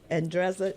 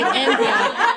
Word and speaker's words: Andreza: But as Z uh talked about the scholarship, uh Andreza, you want to come back up and say a little something. It's amazing that you can say my name. Most of people say Andrea, but they cannot.